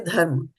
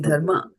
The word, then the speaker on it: dharma: But you have to say that A, right? It's not dharma.